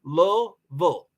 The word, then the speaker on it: Louisville: I'm originally from Louisville two syllables that's how you spell it too low bull um yes me as